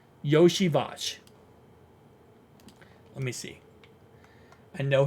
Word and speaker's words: Iosivas: as we call him, he posted on his Twitter exactly how to say it. It's Yoshi Vash. Yoshi Vash.